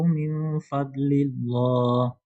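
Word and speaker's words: فضل الله: Ingat kalau kasrah sebelum Allah itu bacanya muraqqa ya. Min fadlillah. Min fadlillah. Coba dibaca lagi. Wabtagu min fadlillah. Min fadlillah. Min fadlillah. Ha. Min fadlillah. Bukan d.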